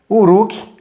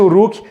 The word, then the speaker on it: Uruk: Se pronuncia assim, Uruk. A pronúncia deve ser essa, tá, pessoal? Pronúncia Uruk.